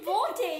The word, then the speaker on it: बोलते: Bolte. Yes, butchered Hindi. It's Bolte.